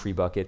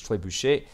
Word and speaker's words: trebuchet: I was going to say tree bucket, but let's be honest, it's a really like you know English way of pronouncing it. The word is tybush and they are currently